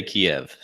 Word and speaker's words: Kyiv: Yeah, the Ukrainians say Kyiv and the Russians say Kiev.